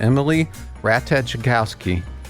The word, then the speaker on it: Ratajkowski: I know it's early, but they've got this thing out like, this model and actress named Emily Ratajkowski. I think the J is silent.